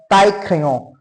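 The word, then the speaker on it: taille-crayon: A tie crayon. Tie, I double L E is pronounced as E. Okay. E, E, E. Pronunciation is kind of E.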